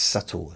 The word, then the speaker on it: subtle: Do some people pronounce that subtly because it's got a B in it? It's subtle, not subtle.